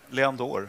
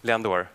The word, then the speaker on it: Leandoer: Uttalar jag namnet rätt? Leandour? Rätt nog. Kan du inte säga det en gång? Leandour. Leandour.